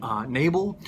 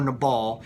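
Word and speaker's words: Nabal: is we're looking at a gentleman named Mable or in a ball depending on who you talk to on the pronunciation they're uh not a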